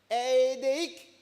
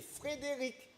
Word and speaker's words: Frédéric: demi, 2 ans, et Édéic, parce qu'il ne sait pas encore bien prononcer. Alors moi, il ne faut pas que je m'amuse à dire Édéic. Il faut que je lui dise, c'est Frédéric. D'accord?